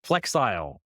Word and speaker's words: Flexile: close with your thing Flexall is that how you pronounce it like style but like flexile yeah and so talk